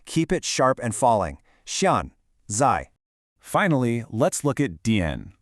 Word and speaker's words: 现在: Xiànzài uses two sharp falling fourth tones. Try saying it out loud with a sharp downward emphasis.